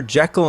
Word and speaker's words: Jekyll: Jekyll and Mr. Hyde. In this movie it's pronounced Jekyll, but whatever.